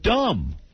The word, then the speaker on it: dumb: there or how about dumb fast the b in dumb is silent say Regis Philbin Regis